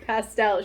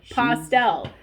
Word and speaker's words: pastel: Like, no matter how many times you tell her it's pastel, she's like, no, pastel, like pasta.